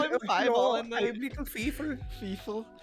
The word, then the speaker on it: Fievel: I love that is the correct, like if you're pronouncing that name in German, yeah, it's like Fiefel or something. But I call him Fievel and then little Feefel.